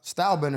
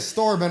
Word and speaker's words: Stylebender: But it is Style Bender. Stalbender. Yeah. Okay. So, he said that and uh and he tried to look Hold on. I said it. I said Starbender.